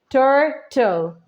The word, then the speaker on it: turtle: So T is your consonant and L is also your consonant, the E, which is silent. You just need to pronounce the TL, turtle, and that's why it becomes the swa sound.